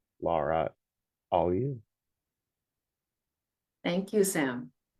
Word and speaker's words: Laura: You can find her on Blue Sky, Instagram, Twitter, and Mastadon's Wandering Shop at pronounced Lara. Lara all you.